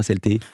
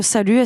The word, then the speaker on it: SLT: Vous le prononcez comment, SLT? Oh salut, SLT, ça marche quoi, les deux marchent.